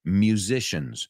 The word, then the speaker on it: musician: Musicians. Siempre digo musician. No, Muse, como el grupo Muse, musician.